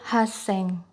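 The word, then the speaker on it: 八千: Lalu 8.000 juga berbeda penyebutannya, yaitu haseng. Selanjutnya lagi, kita akan mempelajari cara pengucapan 10.000 sampai 90.000.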